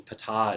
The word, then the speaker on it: Ptah: pronounced it PTAH, and they said no, the emphasis is on the second syllable. It's PTAH, it's not Peta or Peta, it's PTAH.